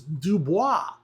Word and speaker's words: DuBois: take the town of duboys in Pennsylvania it's name wasn't originally duboys it was Dubois because it was a French Trading Post so um things